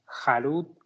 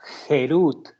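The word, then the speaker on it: חֵרוּת: "Harut, que significa tallado, Harut sobre las piedras. No pronuncies esto como tallado o como J harut, sino más bien como Gerut, que significa libertad, ya que ellos han sido liberados del ángel de la muerte.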